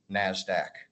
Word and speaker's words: NASDAQ: Although in conversation, people generally just go by the phonetic pronunciation NASDAQ.